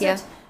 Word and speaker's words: Calathea: Calathea, I think is how Yes, it is. how you pronounce Calathea.